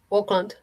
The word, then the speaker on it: Auckland: Auckland.